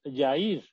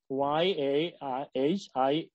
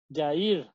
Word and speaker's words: Yahir: So I said, "Well, you're mispronouncing his name. Can say Yair," and she would say "Yahir," and said, "No, try again. Yair," and she would say Yahir.